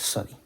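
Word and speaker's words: צדי: And the tzadi is pronounced as sodi. But in the chosen pronunciation, there's a difference between the tau with and without the dot, and the tzadi, or sodi, is tzadi instead.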